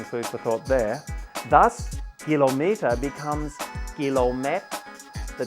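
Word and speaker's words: กิโลเมตร: The word for kilometre in Thai is kilomet. Almost the same, but not quite. For a start, the K sound at the beginning of kilometre turns into a G or a G sound.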